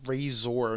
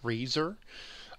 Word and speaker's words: Razor: he pronounces the O in Razor very, very clearly. It's Razor, not Razor.